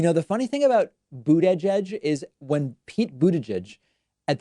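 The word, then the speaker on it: Buttigieg: came out and said it's very easy it's three words boot edge edge and so i've just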